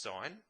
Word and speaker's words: sin: theta the three ratios sine spelt sin but pronounced sine cosine pronounced cos and